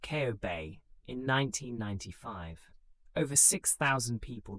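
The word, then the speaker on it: Kobe: The great Hansen earthquake struck the city of Coobe, pronounced Ko Bay, in 1995.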